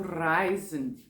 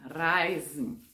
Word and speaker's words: reisen: Eu sempre falo para os alunos, é bom você rolar o R, né? Porque esse R aqui embaixo é mais difícil de pronunciar. E quando eu morei em Munique, na universidade, me indicaram utilizar o verbo, o R italiano, para poder ficar mais clara a minha pronúncia, né?